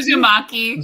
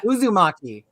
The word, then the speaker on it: Uzumaki: How do you say Uzumaki? Uzumaki. Yeah. Uzumaki. Right, because it's sushi would be maki.